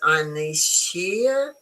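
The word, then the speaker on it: Ynyshir: Here I explain the name of the restaurant is pronounced Anishir, rhymes with sunny sphere, and the name is Welsh, meaning Long Island or Long Meadow.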